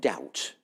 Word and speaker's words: doubt: Uh so let's take a word like doubt. Doubt. Uh now doubt in my language has a diff thong. Ow. But it's borrowed from French. D. So somehow oo has become.